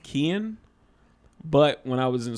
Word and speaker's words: Keane: of people know is my name is actually pronounced kian but when i was